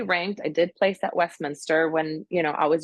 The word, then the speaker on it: Westminster: about your uh I'm gonna say it wrong westmin westmin the doger Westminster Westminster and I'm like oh my God it